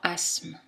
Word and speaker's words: asthme: prononcé dans montréal le th n'est pas prononcé dans asthme les lettres t é